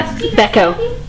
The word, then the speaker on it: Bechko: Bechko. Okay. Rhymes with echo.